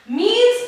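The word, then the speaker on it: mesne: the plaintiff suits for द मींस profit don't pronounce as मसने profit don't be so stupid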